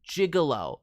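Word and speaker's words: gigolo: Uh, that one is jigalo. So, I'm not sure if that was an intentional choice to says it wrong style.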